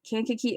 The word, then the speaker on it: Kankakee: I'm pretty sure that's how you pronounce that name. I listened to the audiobook. That's how the reader said it. And so that's how I would pronounce it. That seems like the right way to say it.